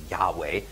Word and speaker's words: Yahweh: equivalent nowadays to YHWH, some people pronounce this Jehovah, other people pronounce it Yahweh, YHWH.